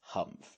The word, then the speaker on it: humph: read this story aloud please pronounce humph exactly as it is spelt for that is how he said it do you know until